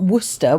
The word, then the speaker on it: Worcester: Worershere is you've got Worcester which is the city in Worershere.